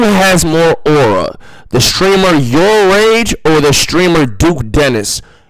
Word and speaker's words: Yourrage: By the way, it's pronounced your rage.